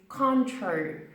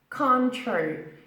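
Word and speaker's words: Cointreau: of this word is contrary contrary we don't say it as it's bad it is a French word English speakers pronounce this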